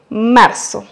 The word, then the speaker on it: marzo: Ici, vous allez prononcer le R roulé car il est à la fin du mot décomposé. Mar. Brr. Pour bien prononcer le R roulé en espagnol, placez votre langue au milieu du palais et ensuite laissez passer l'air doucement. Brr.